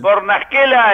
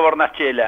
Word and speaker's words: Bornaschella: Bornaschela en italiano, y acá en la Argentina está bien pronunciado Bornaschela.